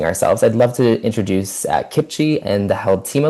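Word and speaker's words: CPCHE: Canadian Partnership for Children's Health and the Environment, pronounced Kipchi.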